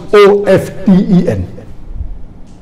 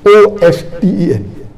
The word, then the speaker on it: often: T is not silent, it should be pronounced. Some say T is silent, and then there's a big debate for that. But we realize that both are correct in their own ways.